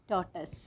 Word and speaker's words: tortoise: Tortoise.